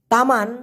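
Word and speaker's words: teman: কিন্তু বলা যেতে পারে তামান মানে হচ্ছে বাগান আর তেমান টি ই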